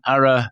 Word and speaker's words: Arra: The Ara Vineyard Token, or AVT, is intended to give